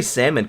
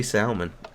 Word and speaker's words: salmon: I say salmon correctly because of you guys. It's your fault. I used to say salmon. All my family says salmon, and I know that L is silent.